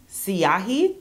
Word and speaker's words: Siahi: I think the name of it is Siahi. It's spelled S-I-A-H-I.